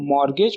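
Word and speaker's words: mortgage: तो उसका आंसर हमारा option A, right to मॉर्गेज only. यहाँ पे टी साइलेंट है।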